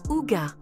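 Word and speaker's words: hygge: secret du bonheur danois le IG prononcé ouga est plus qu'un simple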